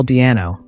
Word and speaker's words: Di'Anno: joke for his name Paul Dio is pronounced in a similar way to the nickname above Norwegian live band 2008